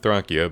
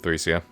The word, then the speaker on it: Thracia: I know some people have pronounced it Thracia, but I pronounce it Thracia.